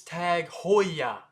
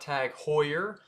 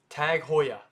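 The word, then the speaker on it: TAG Heuer: the new sponsor of F1 goodbye Rolex it's tag Hoya not tag Hoyer it's Hoya Hoya tag Hoya and I know that sounds a little weird but it is what it is tag Hoya this next one happens to be one of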